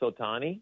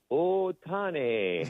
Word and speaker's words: Ohtani: that, but I also I also listened to Stephen pronounce Otani. Okay. And he's like, "Oh, Tani." And I'm like, "You know, I'm like, you're not Vince Scully, but you are pronouncing it probably correctly because you have a